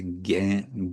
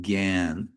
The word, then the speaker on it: jñāna: Now, in Bengali, at least in modern pronunciation, what would be jnana in Sanskrit becomes jnana. Srila Prabhupada always pronounced jnana. But because it's a long A, they'll actually say gan.